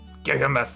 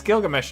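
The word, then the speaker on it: Gilgamesh: Father, alas, my son Gamoth had put a spell on me. Father, I think you're mispronouncing everything. That's not his name. His name is Gilgamsh.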